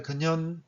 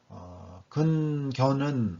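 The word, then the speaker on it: 近見: 왈, 근현, 중조, 방선은 왈 이하는 이제 선조대왕이 말씀하신 거고요. 근견은 근현이라고 읽어야 됩니다.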